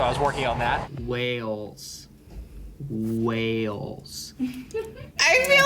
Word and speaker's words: Wales: I know how is pronounced, but when I pronounce it, it just doesn't come out right. You know what I mean? I say Wells. Unless you over the top like. Let me hear you say it. Wales.